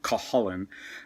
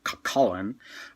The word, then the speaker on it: Cuchulainn: I've heard it pronounced Cuchulainn. When I was in Ireland, I heard a few people say Cuchulainn. I think Cuchulainn is closer to the way it's supposed to be pronounced.